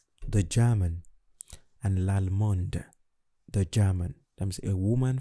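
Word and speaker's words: allemande: i pronounce that okay so in french generally if a word ends in a consonant you don't pronounce it however if a vowel comes after that consonant then you pronounce that consonant okay that's why we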